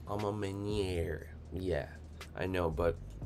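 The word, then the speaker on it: A Ma Maniére: i've never heard of those for some reason um vice p says it's pronounced amma meniere yeah i know but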